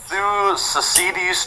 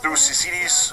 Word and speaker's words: Thucydides: theories and stuff like that, but it's the Thucydides trap, I believe is how it's said, I think. I'm pretty sure that's the way you say it, I think. I think it's the Thucydides trap or something like that.